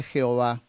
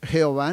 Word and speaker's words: Jehová: precisión en este nombre jehová es una combinación entre las dos palabras ya vistas entre jhv que es el terremoto una palabra impronunciable por cierto pues carece de vocales no se puede pronunciar pero con la toma de las vocales de adonay hay una combinación entre estas dos palabras y aparece entonces jehová o ya ve pero